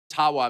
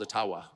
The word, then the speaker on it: Ottawa: And I called it Ottawa many, many times, and I would get these outraged. You don't even know enough about our country to pronounce the name correctly. And of course, it was intentional until I received a very sincere email from an Ojibwa First Nations leader who said, actually, it's called Ottawa.